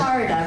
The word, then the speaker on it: Shida: name shida say again shida rhymes with Florida oh I love it